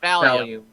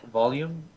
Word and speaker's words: volume: jackass no no yeah volume volume volume okay uh I think fall but replace the F with a v as you're speaking Lieutenant Morel interjects if